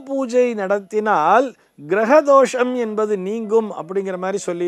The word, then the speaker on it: கிருக தோஷம்: அப்படிங்கற மாதிரி சொல்லி இருக்கா நன்றாக கவனிக்க வேண்டும் அந்த வார்த்தையை அது கிருக தோஷம் கிரக தோஷம் அல்ல நம்ம எல்லாரும் அதாவது கிருகத்திற்கும் கிரகத்திற்கும் இருக்கக்கூடிய வித்தியாசத்தினை புரிந்து கொள்ள வேண்டும் கிருகம் என்று சொல்ல வேண்டும் கிருகம்னு சொன்னா அது வீடு என்று பொருள் இக்கு போட்டுட்டு ருவன்னா போடுறோம்